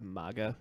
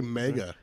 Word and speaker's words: MAGA: MAGA makes more sense to me because of like nothing AG is has ever been pronounced og, and also it sounds like mega.